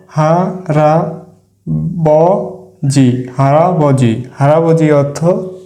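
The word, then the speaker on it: 할아버지: দেশ আমরা আরেকটি শব্দ গঠন করে দেখি হারাবজি আমরা আরেকটি শব্দ গঠন করি হা রা বি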